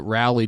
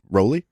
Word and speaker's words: Rowley: the tre flip that rally didn't sorry Oh Rollie yeah Geoff Rowley and sorry yeah yeah it's weird this whole time we were pronouncing both of those things incorrectly mm-hmm this